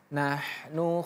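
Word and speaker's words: نَحْنُ: 1 2 3 inna haulai yuhibbunal ajilata wa yadzaruna wadahum yauman tsqila ayat 28 nahnu khalaqnahum 1 2 3 nahnu khq Nahnu ini menggunakan ha tipis. Nahnu.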